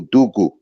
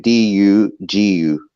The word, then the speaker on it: dugu: Well, in the Garifuna culture, we have something we call dugu. We're spelled with D-U-G-U.